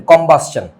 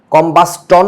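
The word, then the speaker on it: combustion: সো এটাকে আমরা বলি হচ্ছে কম্বাস্টন reaction C ও এম বি ইউ এস টি আই ও এন কম্বাসন কম্বাস্টন না কিন্তু চ উচ্চারণ হবে আয় হায় সব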